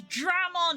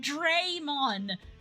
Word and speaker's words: Dramon: it's every freaking it's there's no e in there it's Dramon not Dron why do you pronounce